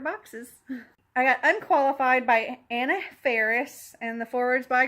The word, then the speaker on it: Anna: You'll meet childhood Anna, pronounced Anna, rhymes with Donna, even though everyone gets it wrong and I never correct them.